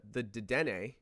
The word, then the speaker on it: Dedenne: If you look at the katakana of the name, it says de-de-ne. So you have to pronounce it because there is a character for n. So if it was supposed to be deden, it would be de-de-n, deden.